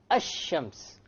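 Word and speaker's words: الشمس: where is the lamb silent silent it's not pronounced right ashams however when i say al qamar the arabic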